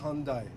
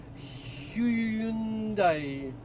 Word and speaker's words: Hyundai: И Hyundai, это у нас Hyundai, а не какой-то там Hyundai.